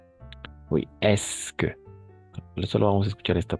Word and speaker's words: est-ce que: Alors, attention à cette prononciation. Voilà. Estas no se van a pronunciar. Oui, es que.